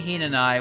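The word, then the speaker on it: Hinanawi: my name is Hina and i with a silent w I'm a celestial well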